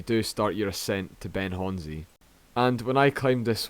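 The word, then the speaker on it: Ben Chonzie: time hearing it as well but it is pronounced ben honzi so to start location for this monroe is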